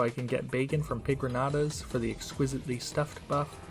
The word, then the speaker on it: Pigronata: can get bacon from Pigranatas for the exquisitely stuffed buff, I get to work on the Elevator. And yes, it's pronounced Pigranata, not Pigrangata, because the N doesn't have the tilde above it.